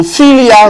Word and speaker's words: philia: So philia rhymes with fill.